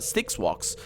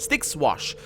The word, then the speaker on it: Styx Wash: I know you feel like you've been drinking a few kegs of Styx Walks. Or, I keep mispronouncing that. Styx Wash.